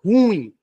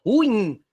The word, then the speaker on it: ruim: última é o tá não é ruim não existe a palavra ruim é ruim Ok então se a da